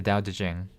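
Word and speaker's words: Tao Te Ching: The Dao De Jing um T AO. So, it's spelled Tao Taching.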